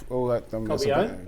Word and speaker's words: Cobian: Cobian? You said it right.